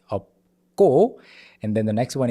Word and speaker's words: 없고: 마 plus 니은 carrying over to the next syllable, 많이. And then 없고, this 시옷 in up is silent here, and then 비읍 and 기역 together, it becomes 없고, okay? It's not 없고, it's 없고.